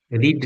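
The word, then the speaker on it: read: রিড রেড, উচ্চারণ হবে রেড।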